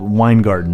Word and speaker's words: Weingarten: union shop and that's called wine garden right that's wine garden think of beer garden but with wine wine garden it's spelled differently but whatever what wine garden is